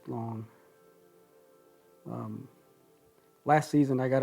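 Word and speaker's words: Lang: it's spelled l a and g but it's pronounced long um last season i got a really good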